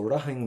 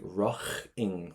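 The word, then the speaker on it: rachainn: So rahing means I would go. Now, if you want to say raching with a strong CH, you can. That's perfect. Yeah, you can. There's loads of ways of pronouncing it.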